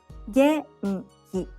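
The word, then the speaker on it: 元気: Genki, fine. Genki, genki, high, low, low.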